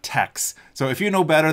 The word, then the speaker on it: TeX: By the way, I think it's pronounced tech, not tex.